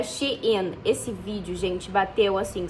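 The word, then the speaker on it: Shein: Nessa época também eu fiz um vídeo pro TikTok que assim bombou, que era sobre a Shen, que eu falei que a pronúncia estava errada, que era She in.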